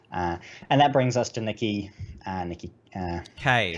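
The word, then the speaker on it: Nikki Kaye: And that brings us to Nikki K. That's how we say the name. Say it right. It is Nikki K, and it's just my bad for not actually having said it out loud ever.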